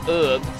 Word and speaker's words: herb: I bet it's weird hearing that pronounces herb on YouTube and not herb I think he was actually pretty late in my life that I found out that America's pronounce herb differently and there goes number